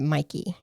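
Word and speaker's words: Mäki: It's So it's spelled M A K I, but everybody pronounces it Mikey.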